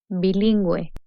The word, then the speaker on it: bilingüe: G in combination with UE and UI, the U with diéresis is pronounced. Gue, bilingüe. Gui, lingüística.